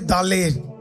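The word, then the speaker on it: dalet: Door का मतलब है दा। दा डी ए एल ई टी डी ए एल ई टी दा ठीक है टी वहां पे साइलेंट है सो दा दा का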